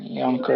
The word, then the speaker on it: Jonker: Is it pronounced Jonker or is it Yonker? Probably Jonker, right? Yonker, yeah.